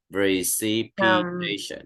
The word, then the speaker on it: precipitation: Precipitation. Mấy trọng âm? Precipitation. 5. Vậy station nó nằm ở phần 5, vậy thì trọng âm rơi ở đâu? 4, đúng rồi.